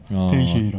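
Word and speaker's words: Teixeira: 자, 오늘 만날 분은 탈레스 테이세이라. 예, 발음이 좀 힘들죠. 테이셰이라. 탈레스 테이셰이라. 예.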